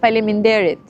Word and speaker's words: faleminderit: You say faleminderit.